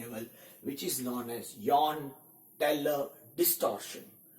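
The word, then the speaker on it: Jahn-Teller: which is known as Yohn-Teller distortion. The spell starts with J, which is silent, so it's a Yohn-Teller distortion.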